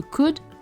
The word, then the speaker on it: could: Notez la prononciation de could, le L ne se prononce pas.